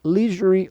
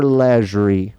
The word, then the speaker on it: leisurely: Leisurely or leisurely? Both. A pronúncia pode ser dos dois, tá? Você pode falar tanto leisurely quanto leisurely.